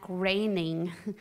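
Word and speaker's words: Groening: Todd too I got to talk to Matt graining yeah that's right I learned how to say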